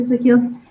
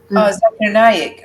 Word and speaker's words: Zakir Naik: Zakil? He's an Indian imam. He answers questions and things like that to really big audiences, and he's memorized. Zakir Naik.